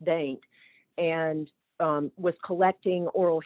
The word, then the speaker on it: Dante: she was in uh Dain Virginia um not it's spelled Dante but pronounced Dain and um was collecting